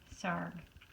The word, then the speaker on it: Sarg: Anthony Tony Frederick Sarg. Sarg rhymes with arg.